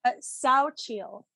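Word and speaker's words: Xochitl: how do you do you know how to pronounce it correctly yeah it's uh sao chill saucio she's uh so it's actually funny because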